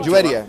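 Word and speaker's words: Juwayriyah: Muhammad's wife, Juwaria, is that how you pronounce her name? Juwaria, yeah.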